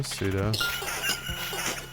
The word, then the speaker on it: pseudo: Can you pronounce pseudo? Pseudo.